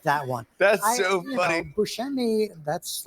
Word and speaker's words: Buscemi: Growing up, we said Buscemi, which is like I can't even do that anymore. So now I say Buscemi. You said Buscemi. I sort of take a little bit from each pronunciation.